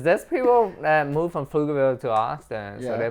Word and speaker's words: Pflugerville: Yeah, Pflugerville, yeah. But it's a Yeah. real name. Yeah. And the P is silent. So it's PF Yeah. and then Lugerville. Pflugerville.